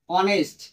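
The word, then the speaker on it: honest: তখন কিবে যদি বলি হরস হরস হইছে না উচ্চারণ তাহলে কি যদি বলি অনেস্ট এইযে অনেস্ট এটা অনেস্ট না অনেস্ট কি হবে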